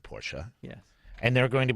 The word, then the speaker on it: Porsche: That is going to be Porsche, the 2-syllable word Porsche.